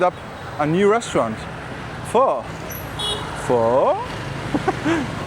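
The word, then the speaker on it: phở: Pho? You need to pronounce it like a question mark.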